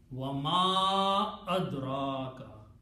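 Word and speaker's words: وَمَا أَدْرَاكَ: So this little Hamza will force the Ma to be pronounced with a Mad. Wa Ma Adraka.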